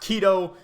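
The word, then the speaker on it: Kidō: are you talking about I thought you said Kaito but no it's actually pronounced Kido which is a bleach thing I'm confused game ver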